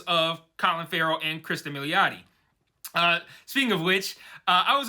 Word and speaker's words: Milioti: exist on YouTube, and all of those said it was pronounced Milioti, which, I mean, that's how it looks phonetically, but that's how I said it last week, and it's completely wrong. So, Milioti it is.